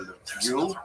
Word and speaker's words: Lviv: They're dominated by the city of Lviv, or Lviv, as it would be pronounced by people in Lichna.